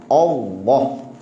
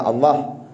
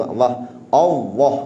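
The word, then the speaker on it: الله: Cara bacanya mesti dengan isti'la. Bacaan dia tu, makna macam mana isti'la'nya tu? Dia baca dengan baca tebal, Allah itu. Bukan Allah, tak mau lepeh gitu. Allah dikembungkan mulut, Allah.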